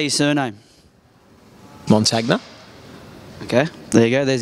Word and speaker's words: Montagna: a chillz how do you say your surname mon tagna okay there you go there's the answer for